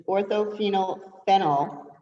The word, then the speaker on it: orthophenylphenol: pronounce it and i'm going to have to spell it for you okay it's orthophenylphenol or ortho benzoyl perichlorophenol are you ready for